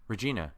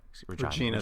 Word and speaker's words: Regina: it we're Johnny King Regina Regina sorry I lived in Regina minus so it's in my it's I only pronounce it the Canadian one okay this movie's coming